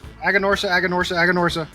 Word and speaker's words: Aganorsa: But of course, Aganorsa.